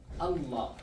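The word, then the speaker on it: الله: So, in this word, the first is not pronounced. Uh, yes, that's true. Because uh And then there's LA. So because LA is from this group, so we're not going to pronounce it. You got to say Allah.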